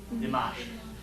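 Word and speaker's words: دمشق: Dimash.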